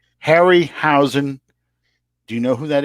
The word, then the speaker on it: Harryhausen: who that man is say that again ray hare our housing hairy huh I can't say his name right now Harryhausen do you know who